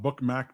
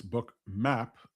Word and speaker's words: Bookmap: Tom says, "It's not bookm, Peter. It's bookmap."